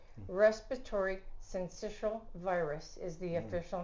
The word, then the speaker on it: syncytial: Respiratory syncytial virus is the official name.